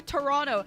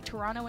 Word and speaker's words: Toronto: league is coming to toronto and if you really want to impress the locals make sure you don't pronounce the second t that's that's the secret